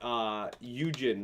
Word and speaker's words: Yujin: I just thought Yujin, right? That's Yujin's how you say it? Yeah. I thought Eugene, was going to be a little bit more interesting for me.